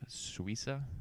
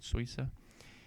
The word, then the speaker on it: Suissa: Swissa. Swissa.